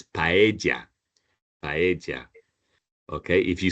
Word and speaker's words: paella: So as long as you don't pronounce it like a single L, Yeah. then it's fine. You know, you can say paella.